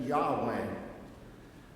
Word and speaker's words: Yahweh: was the true God we call him Jehovah they pronounced it Yahweh the other was the